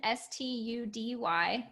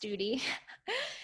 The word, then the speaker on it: Study: just type in s-t-u-d-y it's it looks like study it's pronounced duty so you can find